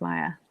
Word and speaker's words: Maja: Oh, I was just told I've been mispronouncing your name all along. Oh yes, it's Maja. Sorry.